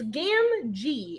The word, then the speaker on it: Gamgee: It's Gamgee.